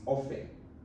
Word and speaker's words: often: sure it's silent or f t e n is not often is often the T silent but there some people